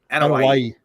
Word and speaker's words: Anoa'i: obviously coming from, the Anoa'i family and like his grandfather, the High Chief Peter Maivia, and like The Rock was is it Ano? How do you pronounce it? Anoa'i. Anoa'i. Anoa'i, like Hawaii. Anoa'i.